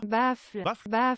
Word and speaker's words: baffle: Il faut vraiment que vous arrêtez de dire baffes. C'est une faute de con. Baffes, enceinte, attends, fais voir est-ce que ça existe même. Vraiment ça n'existe pas. Baffle. Apprenez à prononcer, vas-y on va le faire ensemble je crois. Baffle.